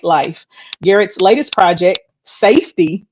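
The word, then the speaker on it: SFTY: Garrett's latest project, Safety, it's spelled S-F-T-Y, y'all. I had to ask him how to pronounce it, transcends boundaries, inspired by real struggles and aimed at fostering freedom and healing.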